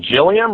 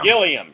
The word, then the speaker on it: Gilliam: just went like that is it Jillian we're going Gilliam Gilliam can we continue please